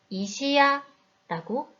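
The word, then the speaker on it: 石屋: 가장 마지막 글자 야의 크기가 어떤가요? 네, 세 글자가 다 똑같이 크죠? 그래서 이 단어는 이시야라고 읽습니다. 이시야, 석공을 뜻하는 단어이고 이 단어는 세 박자, 3박이 됩니다.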